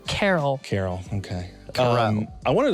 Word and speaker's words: Carroll: How do you pronounce? Carol.